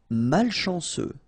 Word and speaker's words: malchanceux: Malchanceux. Final X not pronounced.